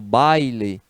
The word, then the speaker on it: baile: e em baile né quando eu falo baile eu pronuncio 2 sílabas e pronunciar aquele ar